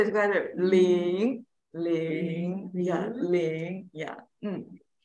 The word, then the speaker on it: 零: Zero in Chinese is ling. Yeah, 很好. Second tone, Susan. Rising. Rising tone. Mm-hmm. So make it rising.